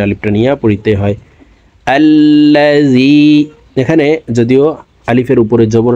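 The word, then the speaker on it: الَّذِي: আল্লাযী, এখানে যদিও আলিফের উপরে জবর নাই, জবর দিয়ে হামজা বলে তাসদিদওয়ালা লামকে ধরব। তাসদিদওয়ালা হরফ দুইবার উচ্চারণ করিয়া পড়িতে হয়, একবার পূর্বের হরকতের সঙ্গে আরেকবার নিজ হরকতের উচ্চারণ হবে।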